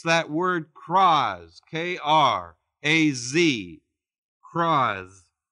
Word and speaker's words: kraz: Aramaic it's that word "kraz," K-R-A-Z, kraz. Kraz, I guess you pronounce it. There's a schwa in there.